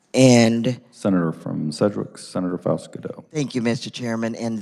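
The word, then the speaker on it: Faust-Goudeau: thank you further questions senator from Cedric Senator Faust Godot Mr chairman thank you so much and I appreciate the way you pronounce my name it's perfect I have a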